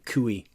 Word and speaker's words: CUI: is controlled unclassified information some people pronounce that acronym kuy export controlled information meanwhile